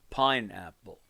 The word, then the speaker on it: pineapple: a word pineapple and we're saying pine is louder pineapple that's two levels of loudness some words actually I